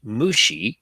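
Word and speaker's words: Moxi: device produced by the and it's pronounced Mushi group produced by the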